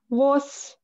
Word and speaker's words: vos: Vos. Don't pronounce the S.